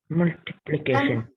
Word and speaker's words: multiplication: How will you pronounce that word? Multiplication. Stress on the penultimate. Multiplication.